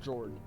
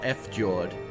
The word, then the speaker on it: fjord: out for jordan yeah no it's not f jawed jord it's swedish viking word i never [ __